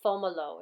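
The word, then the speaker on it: Fomalhaut: So this is Fomolo, it's pronounced, okay?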